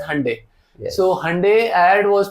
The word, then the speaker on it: Hyundai: You pronounce it as Hyundai.